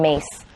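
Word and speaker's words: Myss: So we're going to grab an emotion from Mary and a personality from the Carolyn Mace. I don't know how she says mace when it's spelled M-Y-S-S.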